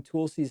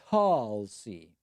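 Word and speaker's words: Tulsi: want but you were pronouncing tool C's name in an attempt to call her a tool it's tall C tall so tall C that is interesting that's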